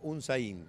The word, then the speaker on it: Unsain: El apellido se pronuncia Unzain, con acento en la I, un acento imaginario.